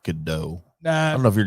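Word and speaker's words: Gadot: done Galaga dot done I believe it's pronounced Godot I don't know if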